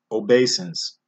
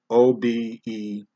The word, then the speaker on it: obeisance: Okay, we got another tongue twister here, and it's pronounced obeisance. It's spelled O-B-E-I-S-A-N-C-E, obeisance.